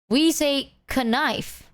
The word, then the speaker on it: knife: Oh, the k used to be pronounced. Give me that k knife. We say knife.